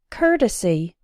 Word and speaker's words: courtesy: as in the words earn hurt and curtain courtesy courteous this sound is also present in the words word work and worst don't pronounce the O like an oh don't say